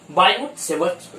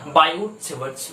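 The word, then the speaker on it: Biot–Savart: इसको एक और टर्म से जानते हैं बेटा बायोट-सेवर्ट law, where T is silent, so बायोट-सेवर्ट law book में होता है, लेकिन लिखा होता है बेटा बायोट-सेवर्ट लॉ।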